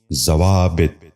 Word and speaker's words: ضوابط: غور سے سنیے، ضیافت۔ نواں لفظ ہے ضوابط۔ یہ غلط تلفظ ہے، درست تلفظ ہے ضوابط۔ دوبارہ سنیے، ضوابط۔ بچوں آپ بھی غور